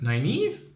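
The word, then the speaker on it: Nynaeve: Irish name and I heard it before but 9 Eve maybe I'm just ignorant but yeah but I finally know how to pronounce it so she has nine Eve who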